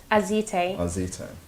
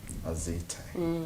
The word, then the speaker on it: Azite: Some people say Azit, some people say something else. And it's like interesting to hear how you pronounce it. It's okay. Azite.